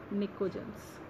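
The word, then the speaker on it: pnictogens: पी is silent, it is called as निकोजेंस.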